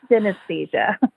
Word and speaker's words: synesthesia: It's like anesthesia, but synesthesia.